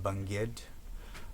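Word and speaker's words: Bangued: It's phonetically spelled Bang-Ued. I think locally it's pronounced Bangid.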